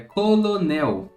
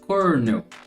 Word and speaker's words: colonel: mas o certo seria cornel cornel colocando um R de fato no meio da palavra não sei aqui de